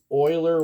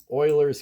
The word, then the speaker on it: Euler: pronounce this Euler but it was pronounced Euler like the Houston Oiler football team that used to be